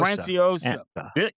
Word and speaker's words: Franciosa: I can't pronounce his last name again. Anthony, what was it again? Franiosa. Franciosa.